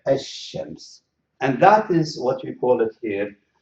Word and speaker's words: الشمس: write it in English, الشمس. So you can see this shadda indicates that I'm going to pronounce the sheen twice and ignore the lam, الشمس.